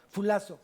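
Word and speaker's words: φυλάσσω: Viene de fulazo con doble S, fulazo, acento en la última, fulazo.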